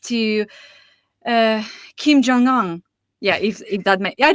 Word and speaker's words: Kim Jong-un: Speaking about Asia, I was today a Russian uh dictator said to uh Kim Jong-un.